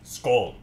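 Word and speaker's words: skål: Or how they say it in the Swedeland, skull.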